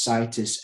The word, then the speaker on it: Citus: if you go on my website which is situs mma dot co dot uk which is spelled c i t u s i'll put